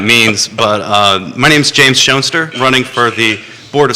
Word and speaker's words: Schoenster: And if you've been driving around Fluvanna, you've probably seen my signs that say Nature, Nurture, Schoenster. It's not only a great way to help people pronounce my name correctly, which Jerry successfully managed, and Thank you.